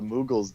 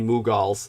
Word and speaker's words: Mughals: the Moguls or the mughals uh what's the correct pronunciation for them again maybe um the mughals moogles the the mughals these were Muslims yeah